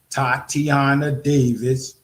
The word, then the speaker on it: Tatiana Davis: I think it said how you pronounce her name. She said Tatiana Davis.